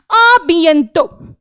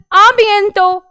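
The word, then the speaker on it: à bientôt: आबियंतो, अब यहां पर आबियंतो लिखा है, यहां पर फिर से ये जो है ना अपनी कॉन्वर्सेशन को एंड कर रहे हैं।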